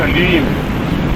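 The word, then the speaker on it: ह्लीं: और उसमें उस बीज का उच्चारण है अलीम, म की ध्वनि है और आपका अनंत है, ली पूरा है और ऊपर अनुस्वार है, तब बनता है अलीम।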